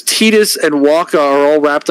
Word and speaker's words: Titus: sworn his name was Titus they're like NOP his name is tetus should have named his parents should have renamed him to tedious because that's what it feels like trying to get the correct pronunciation now Master Chief gets